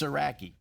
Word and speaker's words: Sieracki: Smith we don't there it's srai for those that are wondering yeah no no no